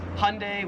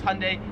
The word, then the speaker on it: Hyundai: So in America, we pronounce this Hyundai, which everyone tells me is wrong. It probably is. So we pronounce this as Hyundai.